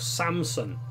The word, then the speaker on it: Samson: would strongly recommend checking out the music of Samson s am s o N as in em